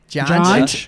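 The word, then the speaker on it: Junj: Jaunch. It's pronounced jaunch, but it's spelled J-U-N-J.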